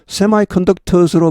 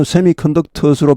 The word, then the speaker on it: semiconductors: 여기 semiconductors는 semiconductors로 발음하셔도 좋습니다. 예를 들어 미국 사람들 경우를 보면요. 쭉 보니까 한 70% 정도는 semiconductors로 발음하는 것 같고 한 30% 정도는 semiconductors로 발음하는 것 같습니다. semiconductors는 semiconductors에 비해 아무래도 좀 강조형 발음이라고 할 수 있겠습니다.